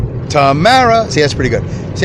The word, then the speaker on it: Tamara: I don't really love her, but, it rhymes with tomorrow. Tamara.